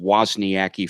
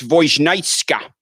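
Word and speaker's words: Wozniacki: It's not pronounced Wniaki, folks. It's Voitka. Caroline Vnitka. That's it out of the horse's mouth.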